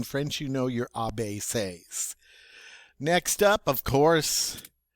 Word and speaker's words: C: called b instead we say bay bay all right so now we have a bay okay next up as always what follows b of course is c but in french it's say all right so now